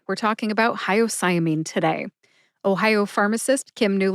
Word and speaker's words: hyoscyamine: Mastery let's get started hyamine has five syllables that's high like the greeting High o like the letter in the alphabet o sigh like a sigh of relief uh which is a short a sound or a schw a sound uh and mean as in Bullies Are mean even though hyamine has